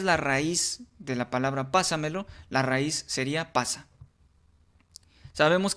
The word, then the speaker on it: pásamelo: Ahora, si nosotros la dividimos en en sílabas, decimos pásamelo. Aplicamos la misma técnica de la entonación, pásamelo. Ubicamos en qué sílaba está la tónica y de esta manera podemos colocarle el acento y saber si es una palabra sobreesdújula.